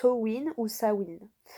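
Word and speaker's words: Samhain: sowind on fait alors ça s'écrit sanamein donc samhd1 n mais ça se prononce au wynn où ça où il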